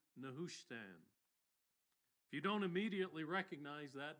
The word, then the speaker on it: Nehushtan: matching the Hebrew and the English it's commonly pronounced nushan that's how I'll be saying it we'll be